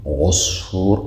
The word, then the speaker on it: عصفور: عصفور، صاد، صاد پر ادا میشه.